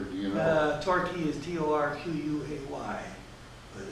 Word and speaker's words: Torquay: Torquay is Torquay, but the Q is a key in the British like it. Quay, we would say it K. It's a key in the English. So it was Torquay, and Payton was Paigton, Payton.